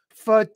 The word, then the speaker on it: photography: we say it as photography bum bum bum bum so the second syllable gets the stress so I'm really into